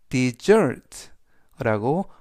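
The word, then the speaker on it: dessert: 강세는 s 뒤에 있는 이에 강세가 있습니다. 그래서 desert라고 발음하시면 되겠고요.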